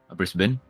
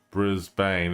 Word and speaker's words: Brisbane: You know, when I've been told off, it's like, it's not pronounced Brisbane, it's Brisbane.